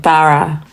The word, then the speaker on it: Farah: My first name, Farah, is how it's pronounced, not with the flat A that Americans gave me.